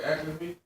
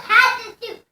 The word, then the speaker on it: Hatshepsut: Athlete feet? No, Hatshepsut.